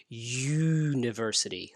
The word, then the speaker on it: university: letter not a spelling university starts with a vowel spelling but not a vowel sound the sound you hear is university that's a y sound the letter y because